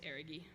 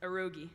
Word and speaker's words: Erigi: And then finishes off with Road to Erigi, which we mispronounced as Erogi for a long time, but not anymore.